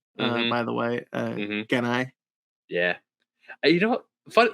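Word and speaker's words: Gennai: Yeah, I always heard it pronounced as Jedi. Jedi? No, it's Y- Genai. Yeah, I didn't hear the N. It sounded like a D to me as a kid.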